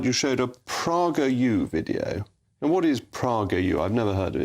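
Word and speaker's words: PragerU: created by Dennis Prager and it's a conservative prer you rather than I mispronounced mispronouncing bad as misgender well it depends who you ask I suppose um um but it's it's Prager you it's a it's it's a um educational Channel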